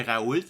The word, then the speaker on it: Raoult: Juste pour rappeler à nos auditeurs, Didier Raoult, et d'après ce que je vois, il faut prononcer le T.